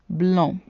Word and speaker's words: blond: Blanc, D is silent in the masculine form, blond.